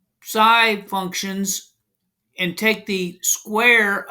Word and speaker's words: psi: Here's the Greek letter, and it's pronounced psi, but the spelling is psi, but this is